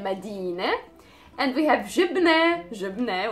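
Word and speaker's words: مدينة: And the next one is Medina. Medina is a city. Again, we say Medina.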